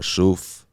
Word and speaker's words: Shoof: It's called shuf. Um, it's Arabic. It means look.